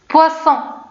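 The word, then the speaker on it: poisson: مثلا هنا لاحظوا اس جات ما بين حرفين صوتيين، يعني نورمالمون شنو خصني نقول؟ بوازون، ولكن انا بغيت نطق به دونك اس بغيت نطق به على شكل اس، دونك شنو خصني نقول؟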